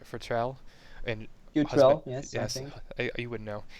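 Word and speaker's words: Futrelle: May um Arthur pan did again um May futel I can't say her name right Futrell and yes you wouldn't know and husband of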